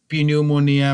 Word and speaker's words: pneumonia: Again, the spelling says pneumonia, but we pronounce the word only pneumonia. P is silent.